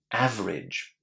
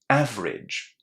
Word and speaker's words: average: These last three letters are pronounced in exactly the same way as the word bridge.